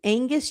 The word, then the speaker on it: Aengus: And his name is Angus James, and it's spelled Aengus, James.